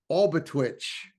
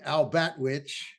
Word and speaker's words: Albatwitch: and thanks to Jay he corrected my pronunciation of it because he is the all knowing allseeing Sasquatch research what we have is the the Alit twitch I was calling it The the albatwitch but I like albatwitch better